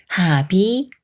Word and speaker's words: 합이: 이건 내 입맛에 맞았다 다음은 비읍 받침이 초성 이응을 만났을 때 비읍 받침이 초성 비읍 수리인 브로 소리 나는 경우예요 먼저 첫 글자 하나만 읽는다면 하의 읍 소리를 붙여서 하 합 합이라고 읽겠지만 합 다음에 초성 이응이 오면서 비읍 받침이 소리가 없는 초성 이응 자리로 올라가기 때문에 하 가 돼요 하비 하비 예문 읽어 볼게요 하비가